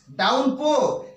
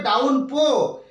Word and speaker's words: downpour: এরপর দেখুন, দেখুন 4 নাম্বারে লিখেছি ইট স্টার্টস ডাউনপো। দেখুন এটার উচ্চারণটা DOWNPOUR, অর্থাৎ উচ্চারণটা হয় ডাউন পাওয়ারের মতো, বাট এটা কিন্তু এখানে আমাদের উচ্চারণ করতে হবে ডাউন পো। ডাউন পো এইভাবে উচ্চারণ করতে হবে।